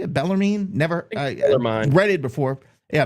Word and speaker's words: Bellarmine: Bellarmine?